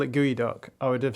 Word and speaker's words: geoduck: The first one reads, "Geod ducks are made better by the fact that it's pronounced gooey duck."